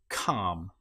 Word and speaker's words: calm: In this case, the L you will notice is not pronounced at all. Palm or calm.